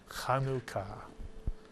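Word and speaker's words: חנוכה: word if you're saying it in Hebrew is kanuka kanuka kanuka khua two syllable word just two and since we're learning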